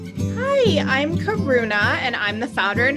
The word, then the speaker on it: Karuna: Your name would be pronounced Karuna with the tip of the tongue up in the center of the mouth for the nasal, Karuna, and then the long A at the end.